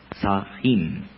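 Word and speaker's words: Samhain: pronuncia están bien si no se que se pronuncia y sahin el dios de la muerte se escribe están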